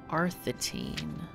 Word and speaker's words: Arthantine: Oh my god, I've been pronouncing it wrong the whole time. Arthantine.